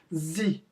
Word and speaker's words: sie: Entre aspas aí, a pronúncia para vocês, sie, bem facinho.